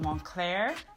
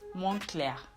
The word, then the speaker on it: Moncler: So it is not Moncler, but it's Moncler. Moncler. So it's almost as if there is an A at the end of the word Moncler. So you would pronounce it Moncler, not Moncler.